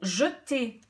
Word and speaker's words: jetez: habituel avec nous vous jetez j'entends de nouveaux e jetez donc un seul t si j'en mets deux je vais dire j'ai ton et gt mais c'est pas comme ça qu'on prononce nous jetons vous jetez un